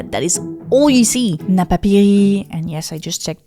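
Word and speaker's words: Napapijri: Napapiri, and yes, I just checked the pronunciation after mispronouncing it for more than a decade.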